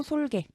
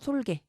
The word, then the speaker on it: 솔개: 이때는 그냥 짧은 소리로 솔개 이렇게 말씀하시면 됩니다. 생쥐의 생은 근데 긴 소리예요. 생쥐. 장음이 들어가죠. 하지만 솔개는 그냥 짧은 소리로 솔개 이렇게 말씀하시면 됩니다.